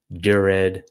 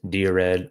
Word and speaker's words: Dired: So, the default file manager in Emacs is the directory editor, also known as Dured, Dared, or Dired, depending on how you want to pronounce it.